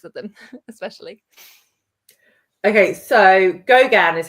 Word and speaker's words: Gauguin: Okay, so Gauguin is how you say that artist's name.